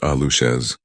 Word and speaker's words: Aluxes: Aluxes, pronounced ah-loosh-es, are small magical beings in Mayan folklore.